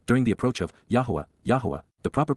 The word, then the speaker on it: Yahowah: Because indeed, KY, for the express reason, on behalf of La, during the approach of Yahuwah, Yahuwah, the proper pronunciation of the name of Eloah, God as